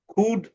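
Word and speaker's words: could: খুড উডুড উড এই ওই ও এবং ইউ মিলে সাউন্ডটা হয়েছে উ এর মত। আর এলবি আছে এখানে এলটা হয়েছে সাইলেন্ট।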